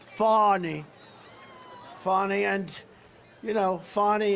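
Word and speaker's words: Fani: these local cases like funny funny it's spelled Fanny it's spelled Fanny like your ass right fatty but when she became da she decided to add a little French a little fancy fonny fonny and you know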